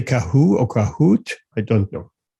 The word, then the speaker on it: Kahoot: a fun exercise any questions it's uh it's pronounced kahoot who twisted right yeah okay good to know